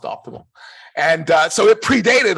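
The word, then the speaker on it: OptiML: i m l right spelled uh spelled that way and pronounced optimal and uh so it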